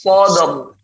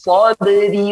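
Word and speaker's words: صبر: Ketika diwaqafkan maka ra sukun sebelumnya fathah, dia tebal. Wa tawasau bis sabr. Akan tetapi ketika diwasalkan dia ra-nya tipis. Ya, wa tawasau bis sabri wa tadi Bu Nadia membacanya tipis seperti itu ya.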